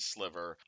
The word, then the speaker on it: Sliver: I know your name is pronounced Sliver.